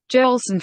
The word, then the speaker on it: Joelson: in english it's pronounced jolson fernando johnson like al jolson it's right in hispanic